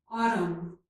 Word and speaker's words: autumn: When the letters M and N occur together at the end of a word, the letter N is usually silent. Here are some examples. Column, autumn.